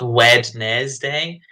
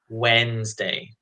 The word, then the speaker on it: Wednesday: There's a couple of silent letters there. So we do not, it's not Wednesday. You say Wednesday.